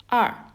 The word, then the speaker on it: 二: Number 2 is two horizontal strokes, and it's pronounced as R.